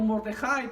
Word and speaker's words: Mordejai: Pero Mardoqueo o Mordejai, como se pronuncia en hebreo, quien fue primo, no fue tío de Esther, fue primo y fue el padre adoptivo de Esther.